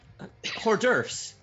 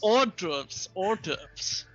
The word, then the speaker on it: hors d'oeuvres: Hors d'oeuvres. Hors d'oeuvres, I believe is how it's pronounced. Hors d'oeuvres. Or what? Or hors d'oeuvres. Not. No. You do not put the W in front.